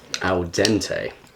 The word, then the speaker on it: al dente: I say this like al dente. Yeah, yeah, yeah. Is that how you pronounce it? Yeah. Yes, Italian's my second language.